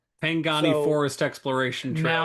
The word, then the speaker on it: Pangani: spaces like Harambe Trail, Harambe Village and the Pagani Pang I never pronounce it right. The Forest Trail. Um Pangani Forest Exploration Trail, now known as Gorilla